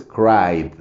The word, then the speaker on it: cried: de los suaves Entonces nada más es cried no le no se pronuncia la e no y lo importante aquí